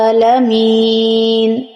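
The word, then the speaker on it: العالمين: নুন জবর না আলামিনা এখানে যদি আমরা ব্রেক করি মানে অফ করি তাহলে আলামিন হয় আর বানান করার সময় কি হলো আলামিনা কিন্তু এখন তোমাদের এখানে ব্রেক করতে হবে এজন্য বানান করার সময় আলামিনা আর রিডিং পড়ার সময় আলামিন আর এই জায়গাতে তিন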